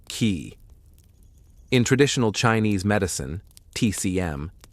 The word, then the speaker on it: qi: of harmony, the flow of energy, or qi, pronounced qi.